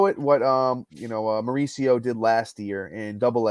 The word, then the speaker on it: Mauricio: gives you the page which gives you the pronunciation of their names so it's Ronnie Mauricio Ronnie Mauricio he's a shortstop Prospect for the